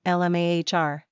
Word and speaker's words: Lamar: Pronunciation, LMAHR.